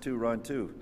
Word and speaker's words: Toronto: But at that time, the area was pronounced by the Wendats to run to. But as you know, we all natives now of Toronto often just pronounce it Toronto.